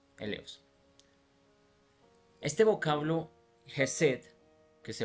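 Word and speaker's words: ἔλεος: en la pantalla y en griego esta misma palabra misericordia se dice el Leo e l e o s elos este vocablo jesed que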